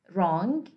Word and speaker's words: wrong: Okay, as you see, we don't have W in the phonetic transcription. It is silent. The same as with rap, wrong, wreck, wrestle, and so on.